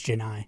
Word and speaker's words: Janai: I think we pronounce, like Vescovy, we pronounced it Johnny for years, and then eventually he said, it's Janai.